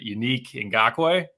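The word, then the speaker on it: Yannick Ngakoue: We did get, I'm probably going to mispronounce his name, but Unique Ngakoue.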